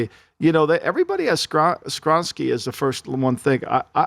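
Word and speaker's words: Skoronski: But I think, to me, I would go Paris Johnson over Skronsky is that how you say it, Skronsky?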